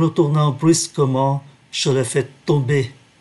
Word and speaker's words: tomber: En me retournant brusquement, je l'ai fait tomber. Ký tự M, chúng ta phát âm là N, do vậy đứng trước ký tự B.